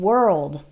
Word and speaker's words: world: these are definitely challenging one thing I want to say about both work and world is they are spelled with an O but it doesn't really sound like an O that o R has an O sound same as in the word bird or heard that's the past tense of